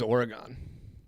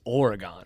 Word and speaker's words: Oregon: I thought it was Oregon. If you live east of the Mississippi, it's Oregon.